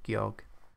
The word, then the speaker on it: Georg: I usually pronounce the G as a G sound. Because it sounds funnier. Georg.